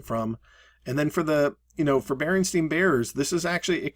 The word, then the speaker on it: Berenstain: And to clarify, he says it Berenstain, like coffee stain, jello stain, or wine stain.